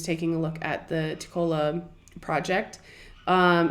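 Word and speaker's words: TECOLA: he has actually created this uh tacola I think that's how he pronounced IT t-e-c-o-l-a project and I'll put the link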